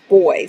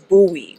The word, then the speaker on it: buoy: These three pronounce boy. So here in Belfast, they pronounce them boy, but America pronounce it buoy, right?